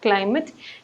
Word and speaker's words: climate: So in the words like climate, knowledge, and spacious, there is actually a one syllable and you are focusing on that portion, and you should stress in the word climate, you should stress the portion CLI so that it will come out perfectly.